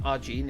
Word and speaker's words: Ajin: So I've watched Ajin or Arjin. I know it's pronounced Arjin in the actual anime, so I'll go Arjin.